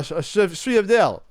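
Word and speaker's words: sfogliatelle: You have a sfriadel, which is hard to pronounce because it's spelled Sfoliatelle. Sfriadel.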